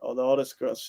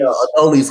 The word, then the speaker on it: Adolis: How you say it? Aldaldis Garcia. He's Adolis Garcia.